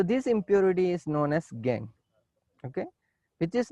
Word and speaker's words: gangue: Gangue particle, not gangue. It is gangue. Okay, pronunciation is gangue.